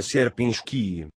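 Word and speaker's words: Sierpiński: Se pronuncia Serpinski.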